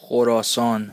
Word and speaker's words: Khorasan: Moscou l'État islamique au Khorasan oui ça se prononce comme ça et oui c'est pour me la péter jorasan le jorasan c'est une région historique dont les